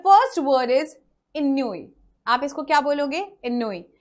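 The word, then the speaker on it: ennui: इसको नुई भी बोलते हैं या फिर कई लोग इन्नुई भी बोलते हैं। यहाँ ई जनरली साइलेंट होता है, आप नहीं भी रख सकते हैं।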